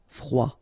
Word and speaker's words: froid: Final D not pronounced. Froid.